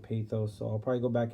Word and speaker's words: pathos: lesson on pathos today it's pronounced pay this but I've always said pathos so I'll probably go